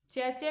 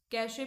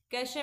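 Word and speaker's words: cache: भाई इसका जो प्रोनाउंसिएशन है वो दो तरीके से करते हैं लोग, कैशे भी कहा कहते हैं इसको और चैचे भी कहते हैं। ठीक है, वैसे अगर इसका सही प्रोनाउंसिएशन आप करें तो इसका सही होता है कैशे मेमोरी।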